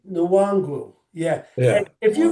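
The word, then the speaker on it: Nwangwu: was, Wangu, Wangu. It's Kimi Nwangu.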